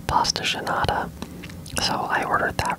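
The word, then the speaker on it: pastel de nata: pronounced different ways, but I think one way to say it is a pasta genada.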